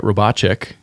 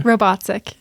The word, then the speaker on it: Robatcek: With Robatcek. Yes. I think I butchered that last syllable though. Yes. I think you did too. Say it one more time, It's okay. Robatcek.